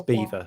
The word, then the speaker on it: Belvoir: It's spelled like Belvoir, but it's Beaver for some reason.